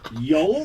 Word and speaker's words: yolk: He's going to pronounce the L, isn't he? No. Yes. No, this guy fucking does raw eggs in the blender in the morning. I know, and it always calls it a yolk. Nah. Wait, what? You're stupid! Really mispronounced it. Sorry. What is he saying? He's hitting the L. Yeah, I'm definitely saying the L.